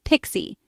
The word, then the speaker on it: PKCE: That's proof key for code exchange pronounced Pixie.